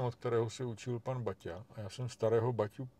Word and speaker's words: Baťa: jako rodilého inda a on pořád jak něco říkal bata a bata a já jsem mu jako taktně naznačil že se to vyslovuje Baťa a on nechápal proč a jak a tak jsem mu řekl No on je tam Takovej ten háček t u toho t jako v mém přímení